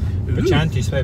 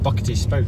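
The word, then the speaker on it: Buchanty Spout: Yeah, to find the place that now it's spelt Bocanti. Bocanti? Or Bachanti. Bachanti spout, but it's actually pronounced Buckety Spout.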